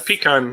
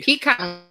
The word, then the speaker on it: pecan: You know, I say it both ways, so Do not say pecan. That's an outhouse.